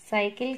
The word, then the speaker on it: साइकिलें: लें, ले नहीं, लें। एक की मात्रा के बाद यहाँ एक बिंदु है, तो उससे उसका उच्चारण क्या हो रहा है? साइकिलें।